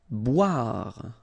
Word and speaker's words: boire: Boire. Okay, remember OI, wa, bois, boire.